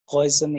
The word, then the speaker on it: Poisson: तो ही has named him पॉइजन equation. पाइजन कहते हैं वैसे तो। पॉइजन वर्ड एक ही जैसा प्रोनाउंस होता है, बहुत ज्यादा फर्क नहीं है।